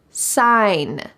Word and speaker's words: sign: so much natural light sign sign notice that the g is silent sign the business sign